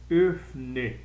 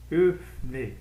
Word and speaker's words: öffne: Não muda nada, só acrescento um E e na hora de ler eu pronuncio esse E. Então, öffne, öffne, quer dizer, abra a porta, öffne die Tür, abra a porta.